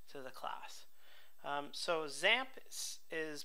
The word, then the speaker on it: XAMPP: we get to to the class um so zamp is pronounced zamp you might think it starts with The Zed